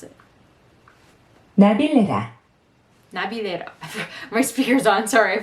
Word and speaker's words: Navilera: I looked up how to pronounce it. Navilera.